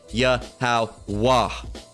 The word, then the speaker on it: Yahweh: All right, but again, you don't add that ha. It's just the H that's the signifying stopping point. Yahweh, right?